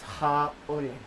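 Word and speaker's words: haole: Except mispronunciation. It's ha ole, no breath. And slur word, haule, foreigner.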